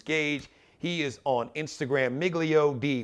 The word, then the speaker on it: Miglio Di: He is on Instagram, Miglio D, but the D is D-I. Miglio D, Miglio Di. It's Italian, so Miglio D. I didn't take Latin. So Miglio D-I, it's spelled Di.